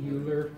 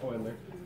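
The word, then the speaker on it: Euler: in my head because I read it and I see uler and it's not pronounced like that. It's oiler.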